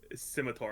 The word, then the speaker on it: scimitar: Scimitar.